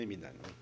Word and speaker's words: Hemidane: oui, mon nom c'est Emidan. Bon, j'ai bien prononcé.